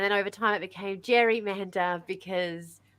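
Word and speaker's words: gerrymander: over time it became Jerry Mander because we pronounce it Jerry not Gary but his name was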